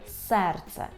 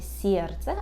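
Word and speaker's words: serce: літак або у слові серце серце А ми пам'ятаємо що буква е в польській мові завжди читається як е тому ніколи не можна сказати сердце а повинно бути серце е серце серце буква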